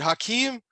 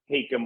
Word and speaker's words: Hakim: Normally I would answer to Hakim or Hakim, and I get called both all the time.